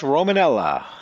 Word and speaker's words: Romanella: Well, you were close. Romanella. Romanella. Romanella. Let it roll.